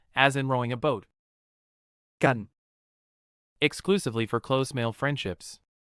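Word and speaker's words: กัน: Gun exclusively for close male friendships. Sounds like gun but shorter.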